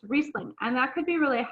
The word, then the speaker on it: Riesling: of saying it because our eye you would pronounce the i but in the case of german it's riesling and that could be really helpful when you're